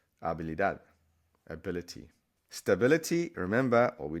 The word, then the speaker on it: habilidad: Ability, again, there's a silent H here. You don't need to pronounce it. So act as if it's spelled the same way. Habilidad, ability.